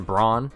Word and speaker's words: Braun: Christian Braun, I refuse to call him Christian Brown because it's literally spelled Braun. We can't just decide to call people something different when it's pronounced that way, or when it looks that way, rather.